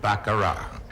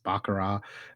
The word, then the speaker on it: baccarat: the world we still pronounce it the way the French Do bakara the tea is silent